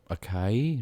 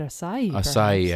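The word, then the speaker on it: açaí: heard that word before in my life really akai no no but acai i mean you must have seen it written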